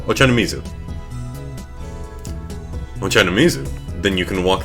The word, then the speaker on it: Ochanomizu: Ochanomizu. Ochanomizu. I think that's how you pronounce that. Ochanomizu.